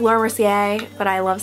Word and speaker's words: Laura Mercier: the Laura Mercier silk okay I know it's pronounced Laura Mercier but I love saying sier sier okay whatever